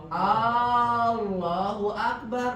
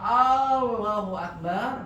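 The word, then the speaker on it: الله أكبر: Ketika dia membacanya Allahu Akbar, berarti dia memanjangkan A-nya, menunjukkan ada satu kalimat tanya.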